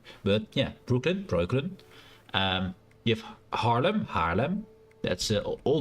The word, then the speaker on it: Breukelen: Is Breukelen. Oh, of course, it's been Americanized because they can't pronounce the O. But yeah, Breukelen.